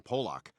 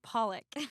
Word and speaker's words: Pollock: Uh, well, you know, I really like uh that Jackson Pock. Grab the paint with his hands and just start chucking it everywhere. I mean, it's pronounced Pollock.